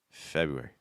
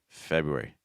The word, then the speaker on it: February: spelling but pronunciation wise you can simplify it by just taking off that first R okay febu febu so say f u r e February February you want to think